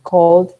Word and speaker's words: called: Pero con la D es un poco más suave, tendríamos que decir cold, como si hubiera una D al final solamente. Es como si borráramos la E.